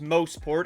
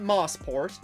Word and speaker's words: Mosport: Mostport, yes, it's pronounced Mosport and not Mosport, has a long history behind it, dating back to 1958.